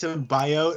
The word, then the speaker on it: symbiote: First off, you guys are saying it wrong. It's symbiote.